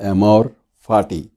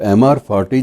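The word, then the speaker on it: amor fati: Nietzsche बहुत बड़े दार्शनिक थे और नीत्शे का एक सिद्धांत था एमोर फाटी। तो एमआर फाटी जो है वो स्पेलिंग में उसके बोल देता हूँ ताकि उच्चारण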